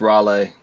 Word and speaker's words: Raleigh: that yeah that's a great pick and it's pronounced Raleigh thank you thank you how that translates to